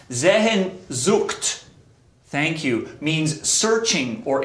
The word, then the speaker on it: Sehnsucht: Pronounced Sehnsucht, thank you, means searching or in search of something.